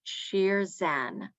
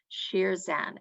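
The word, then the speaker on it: شیرزن: latched on to is a word in persian or farsi that is pronounced sheer zen sheer zen and sheer zan is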